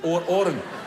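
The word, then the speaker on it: Odhran: O D H R D H is silent. D H silent is silent. All right. So, Oran. Is that enough if I just call you Oran?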